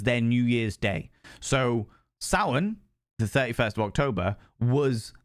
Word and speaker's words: Samhain: It's spelt Samhain, but it's pronounced Samhain, which is a Celtic tradition.